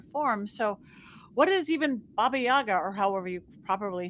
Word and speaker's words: Baba Yaga: So people will know her as Baba Yaga, or Baba Yaga, but in Ukrainian it's Baba Yaga. It's just a different sort of sound to that second syllable of Yaga or Yaha.